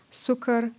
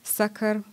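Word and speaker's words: succor: poem is called s-u-c-c-o-r i'm not sure if i'll pronounce that right sucker sucker okay and it came from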